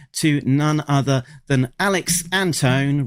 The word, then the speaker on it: Antone: We will be talking to none other than Alex Anton rhymes with phone.